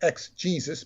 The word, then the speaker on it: Exegesis: his book exit Jesus it sounds like ex Jesus but it's e-x-e-g-e-s-i-s which is a work